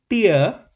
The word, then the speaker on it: tear: To rip apart you know rhymes with air.